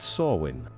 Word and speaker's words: Samhain: Halloween traces back to Samhain, pronounced Samhain, an ancient Celtic festival that marked the end of harvest and the start of the darker half of the year.